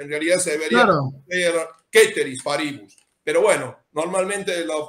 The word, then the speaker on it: ceteris paribus: ceteris paribus, que en realidad se debería ser ceteris paribus. Pero bueno, normalmente lo pronunciamos en un latín un poco extraño, ceteris paribus.